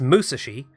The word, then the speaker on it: Musashi: research done on Musashi it's a it's Musashi emphasis on the first syllable as it is a Japanese word or name and there was a